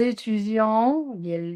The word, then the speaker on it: étudions: Alors, comment vous allez prononcer? J'étudie les langues. Tu étudies, il étudie ou elle étudie. Nous étudions, liaison.